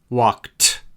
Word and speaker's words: walked: Walked has a t sound. Walked. Played has a d sound.